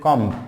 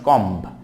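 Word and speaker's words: comb: এবার সেটা কম, চিরুনি, চিরুনি, চিরুনির ক্ষেত্রে আমরা বলি কম্ব, নট কম্ব, it will be কম, কম, কম, কম, নট কম্ব।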